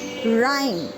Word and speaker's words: Rhyme: Rhyme, the h is here silent.